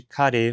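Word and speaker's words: 彼: Da mesma forma, a escrita de kare foi simplificada, omitindo-se o re nominalizador da escrita, mas ainda usando-o na fala.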